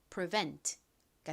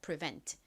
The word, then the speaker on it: prevent: E nt는 v 소리 나고 e는에 소리는 니은 소리 그때 t는 t은 소리 트 소리 나서 prevent가 됩니다. prevent 뒷부분 강조해서 발음해 주세요.